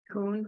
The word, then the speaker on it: Kuhn: It's Kuhn. Coon? Is it Kuhn?